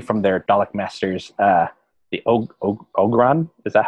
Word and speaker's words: Ogron: The Ogron?